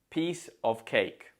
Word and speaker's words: piece of cake: how easy it was note that the stress falls on peace and Cake because we don't tend to stress articles or prepositions so it's a piece of cake let's have a look